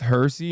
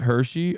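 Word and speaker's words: Hirsi: It's pronounced Hersy, not Hershey.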